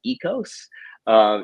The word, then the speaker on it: oikos: on the word, and they came to the conclusion that it's actually pronounced ecos. If you were a Greek speaker, so what we refer to as ecos are the 8 to